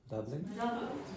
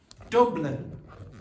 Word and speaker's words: Dublin: You didn't do that the first time. You were going Dublin. Dublin. There was no lips coming together.